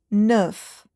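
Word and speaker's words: neuf: Notice that H is silent and you say it as with. Okay. Nine in French is nerf.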